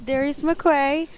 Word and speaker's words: Darius McCrary: Awards with we all know who this is Darius McQuay wow you said it right what people say your name wrong yeah it's been for years our senior